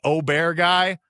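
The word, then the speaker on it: Åberg: Sorry, I have Ludic Obear on the mind, which apparently is now Oberg. I don't know. He's changing the way you want to say his name all the time, but whatever.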